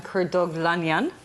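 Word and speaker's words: Kurdoglu: of me i've tried practicing the whole time kurt douglas did i say it right yes he did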